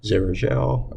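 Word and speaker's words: xerogel: Okay, yeah, it is with a Z. Zerogel.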